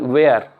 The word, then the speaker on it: where: W के बाद H letter आने पर भी ये आपका H साइलेंट हो जाता है। तो WHERE, वेयर, watt, van, वाई, इसमें सब में H साइलेंट है।